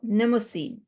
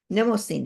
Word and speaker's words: Mnemosyne: Mnemosyne. Mnemosyne, the M is silent, mnemosyne.